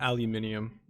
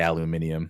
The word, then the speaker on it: aluminium: That and aluminium, my favorite words in that pronunciation. Dude, I have friends in manufacturing, and it's like even Americans in manufacturing will generally say aluminium.